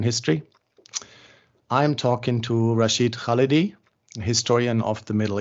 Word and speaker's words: Khalidi: First, Khalidi is more correct. Khalidi is more correct? Yeah. Okay. Accents on the first syllable.